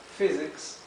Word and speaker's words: physics: Por ejemplo, la PH en inglés se pronuncia F, igual que la F. La palabra, por ejemplo, para física, physics, se escribe con PH y se lee como si fuera una F, ¿sí?